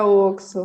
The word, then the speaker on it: Oxo: no Joio e Trigo, eu acho que se pronuncia Oxo, né? Não sei se é Oxo ou Oxo. É Oxo. É Oxo.